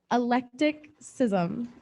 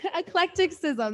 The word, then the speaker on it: eclecticism: from our collegiate division electricism eclecticism eclecticism that's how you say it all right all